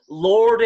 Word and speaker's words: Lord: 자 그러면 Lord 해봅시다. 이거 윗니 L 발음 Lord.